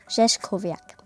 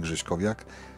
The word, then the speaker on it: Grześkowiak: And according to my name, you did it perfectly. Pronunciation was good. I'm Grzeszkowiak, and I'm a director for strategic projects and communication here.